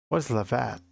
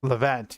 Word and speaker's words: Levant: Because I've wanted to lavant. Oh, that's what I typed. Leavant. Levant.